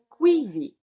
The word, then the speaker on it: KWZ: name for it and she was calling quezy and uh many people in Canada was calling quey so I know that also some people in United States pronounce it quezy I think it's a